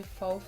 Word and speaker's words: faux: Okay, my darlings, so today I'm going to be showing you guys how I do my faux freckles. That's how it's pronounced.